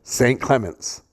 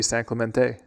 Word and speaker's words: San Clemente: And do you know how to pronounce the e in a Yeah. Yeah. So it' be San Clemente.